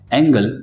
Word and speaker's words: angle: पहला वर्ड है एंगल, जिसका स्पेलिंग है ANGLE, जिसके मीनिंग्स है कोण और नजरिया।